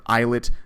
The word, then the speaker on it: islet: you know how it's spelled eyes lit or eyelet cells that exist and sit